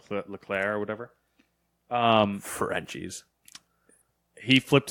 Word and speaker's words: Leclerc: ] French last name look clear LeClair but it's it's spelled like Leclerc it's gotta see at the end but it's you know it's you know silent so it's like LeClair or whatever Ferengi's he